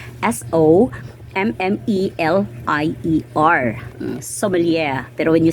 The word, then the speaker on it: sommelier: diploma um French word it's a French word it's s-o-m-m-e-l-i-e-r Somalia but when you say it in a business way how are you going to pronounce it it's okay a master of sumilia diploma this um as